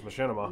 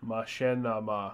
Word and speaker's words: Machinima: I'm telling you how to pronounce it. It's Machinima.